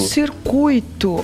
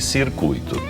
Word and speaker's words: circuito: É o U é mais forte que o I. Tá. Tá. Essa é a pronúncia. Então, principalmente as palavras que mais usadas desse desse grupo aqui, gratuito e circuito.